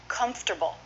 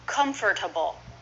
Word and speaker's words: comfortable: me interesting interesting okay comfortable I hear my students say comfortable four syllables how do native speakers say it comfortable and it's not it's not a genuine or or comfortable so I